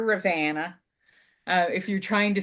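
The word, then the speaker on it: Ravenna: this pattern is published this is Rana um which is how we say it up here Rana uh if you're trying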